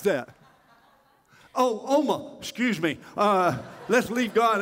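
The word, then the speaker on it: Omagh: my god Northern Ireland exactly how do you pronounce that oh oh ma excuse me let's leave God out of it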